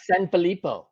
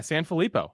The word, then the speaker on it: Sanfilippo: I'm pretty sure you said it right San filipo yeah San filipo I mean no one ever gets it I